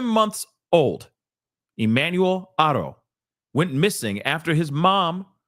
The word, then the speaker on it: Haro: And I've heard the name pronounced 15 different ways, okay? But I believe it's Haro, all right?